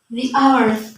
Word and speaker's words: hour: Kemudian the hour. Sama kayak tadi. Meskipun ini huruf awalnya H atau H, bacanya the hour karena ini bacanya hanya hilang.